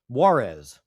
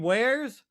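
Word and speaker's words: warez: which the person was talking about um Wararez is is how he how he repeatedly pronounced it. Wararez. And I and I was sitting in my car like you mean wares.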